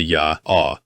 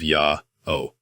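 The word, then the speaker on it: Yah: Therefore, we can conclude that the pronunciation of the Greek letters iota, alpha, and omega would have been closer to ya instead of yao.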